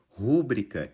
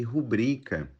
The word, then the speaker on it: rubrica: em vez de recorde rúbrica em vez de rubrica e também uma palavra